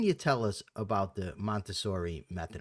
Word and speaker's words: Montessori: tell us about the montauri method am I pronouncing that right montauri montauri yes okay what can you